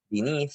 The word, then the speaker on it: beneath: ¿En la primera o en la segunda sílaba? segunda sílaba. Very good. Second syllable.